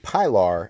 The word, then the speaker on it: Pilar: The second one here is the CRKT Pilar. I have been told that's how you pronounce that.